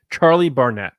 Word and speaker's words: Charlie Barnett: don't want to screw that up it is Charlie Barnett yeah so he plays yord fander and he